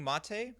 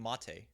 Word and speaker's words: MATE: It's Ubuntu Mate. Isn't it Mate? I know it's not mate. It's not pronounced mate. It's Mate, right?